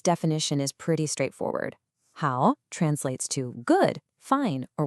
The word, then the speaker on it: 好: This character is pronounced how.